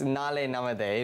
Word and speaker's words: Naalai Namathe: So the event is called Naalai Namathe. Am I pronouncing it properly? It's Naalai Namathe. Okay, well, you pronounce it much better than I do.